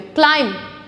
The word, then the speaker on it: climb: क्लाइम would नहीं बोल रही मैं, क्लाइम, क्लाइम, B silent, क्लाइम the tree.